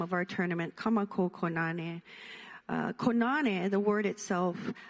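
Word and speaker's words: Kā Mākou: different parts of it, we can look at Ka Makou with a kahako over the a, both a, to mean our. So if we say Ka Makou Kōnane and pronounce it a little bit different, it actually means our Kōnane that we get to partake in together.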